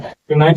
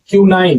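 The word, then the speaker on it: quinine: क्यूनाइट का प्रयोग होता है क्यूनाइन, सॉरी प्रोनाउंसिएशन में प्रॉब्लम था। क्यूनाइन, क्यूनाइन, क्यूनाइन, क्यूनाइन का प्रयोग किसमें होता है?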